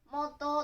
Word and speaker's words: 元: 読み方が、元とか、元、元と読みます。